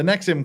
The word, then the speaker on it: NXIVM: with uh this is the nexim the nexim cult now that I'm told that's how we're supposed to pronounce it and it you know